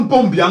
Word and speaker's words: Biya: Il faut prononcer bien le nom de Paul Biya. Non, Mpombia, Mpombia. Mpombia. On dit Paul, P-A-U-L, Paul, Mpombia.